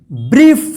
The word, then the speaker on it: brief: तो यहाँ पे देखिए BRIEF, देखिए यहाँ पे IE एक साथ है ना, यहाँ पे EI है और यहाँ पे IE एक साथ है, तो इसका उच्चारण क्या होगा, ई होगा, ई, ठीक है ना। जैसे यहाँ पे देखिए EI या IE रहेगा तो ई उच्चारण होगा, तो इसको क्या पढ़ेंगे, ब्रीफ।